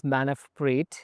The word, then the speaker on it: Manav Preet: The full name is Manav Preet, which is 2 syllables, Manav and Preet.